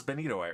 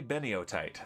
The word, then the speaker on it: benitoite: for you girl Hulk I am possibly the only Vault hunter in the world who pronounces benitoight right let me show you something and I blame miscal for this because he says it wrong and now everyone says it wrong that does not say beniotite that is benitoite and